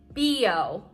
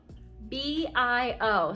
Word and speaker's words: Bio: called organic it's called b.o b-i-o so like you would say bio but in germany it's pronounced b-o like dude you have